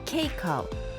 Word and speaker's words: Keiko: My name is Keiko. A lot of people get confused and say Keiko or Keiko, but it's actually pronounced like cake with an O, Keiko.